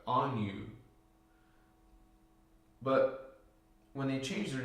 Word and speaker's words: Anu: And the Guardians remind us it's A-N-Y-U. If you look on internet, it's spelled A-N-N-U. But just add the little Y sound in there, on you.